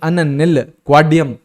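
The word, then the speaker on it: अननिलक्वाडियम: इसको अन निल निल नहीं, अन निल क्वाडियम ना, ऐसे प्रोनाउंस करेंगे।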